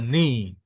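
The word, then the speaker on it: νι: Jadi plagal empat terus ada ni ya. Ini kalau orang enggak tahu bacanya NN ya. Ni ini bacanya ni.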